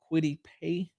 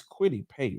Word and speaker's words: Kwity Paye: by Colts defensive end Kwity Paye. That's how you pronounce his name. Hold on, y'all. Let me get it's Kwity Paye, right? Where is it? Yeah, Kwity Paye.